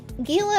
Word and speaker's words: Gila: __ ] guard G Gila is a Spanish word well I still want to pronounce the G cuz they're bust ing